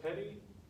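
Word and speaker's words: petit: is the petty jury it's spelled pettit pronounced petty there might be a debate about how it's pronounced somewhere but i've always heard it pronounced petty so we're gonna go with that these normally consist of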